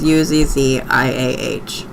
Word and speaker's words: Uzziah: It is spelled Uzziah. ZZ. I'm not very good at that. My list betrays me. But it is Uzziah.